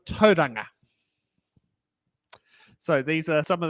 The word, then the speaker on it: Tauranga: place names such as saying towel ronga instead of Tauranga so these are some